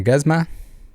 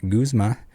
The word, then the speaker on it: Guzma: guzma's name as a gazma i've heard that too quite a bit in my head someone said a lot when i said it aloud my sister and others pointed out that it's pronounced guzma which kind of floored